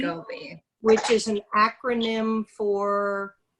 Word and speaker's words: SCOBY: Am I pronouncing that correctly? Yes, SCOBY, SCOBY.